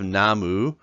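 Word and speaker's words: 나무: for fun as a slang here we have namu which is tree namu nuh moo namu and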